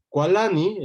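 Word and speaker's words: cualani: Kualani es, él se enoja o él está enojado, y entonces justamente vamos a recordar que cuando tenemos la qua iniciando la sílaba, vamos a escribir seu, ¿no?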